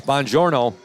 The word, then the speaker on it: Bongiorno: Bongiorno I I said is that pronounced the way it looks and he said yes and I said boy I'm gonna think I'm back in Italy again he said yep it's it's bonjourno and the Trojans are